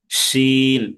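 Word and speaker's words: شين: শিন। এই শিন হরফটা শব্দের কোথায় আসবে? প্রথমে। শব্দের প্রথমে আসবে। শিন হরফ উচ্চারণ করতে হবে কিভাবে? সা সা আওয়াজে উচ্চারণ করতে হবে।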